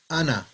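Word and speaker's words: أنا: This little circle there means you don't pronounce the alif. You just say ana. It's not, normally you say ana because that's what it's written. But on here, you don't, the circle there is showing that you don't pronounce the alif, so it's ana.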